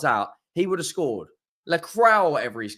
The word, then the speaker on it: Lacroix: Lacroix, whatever he's called. Lacroix. Mate, right? Henry, it's La Croix, okay? It's not that hard, mate. It's 2 syllables, bro.